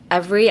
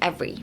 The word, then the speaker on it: every: trying to pronounce everyone, they tend to say ev like they pronounce the v e r too much. Um, try focusing on just pronouncing like every as e v r y. Like ignore the e, like every like vv